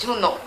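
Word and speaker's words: Junho: Mesma coisa para Junor. Não é Júnior. Não é Júnior. Não é Junor. É Junor. É como se o H não existisse. Existe, é pronunciado, mas é tipo só um pouquinho min, não sei explicar o H tá aí, mas quase não.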